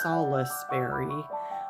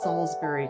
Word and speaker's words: Salisbury: It looks like it's pronounced Salisbury, but it's Salisbury Cathedral.